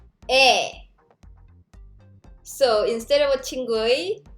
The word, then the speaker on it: 의: So when 의 is used as a possessive particle like this, you pronounce it like it's different. 에.